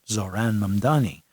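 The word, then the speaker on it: Zohran Mamdani: very complicated for a lot of people to pronounce Mdani his name is Zoran Zoran Mamani now I know of his mother who is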